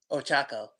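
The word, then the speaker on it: Ochaco: Ochako.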